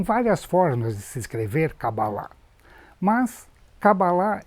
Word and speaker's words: Kabbalah: mesmo equívoco que você elas pronunciam cabala mas a pronúncia correta é kabbalah e é Existem várias